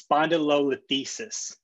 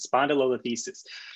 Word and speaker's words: spondylolisthesis: But because there's anterior dislocation, it's spondylolisthesis, I think is how you properly pronounce it, spondylolisthesis.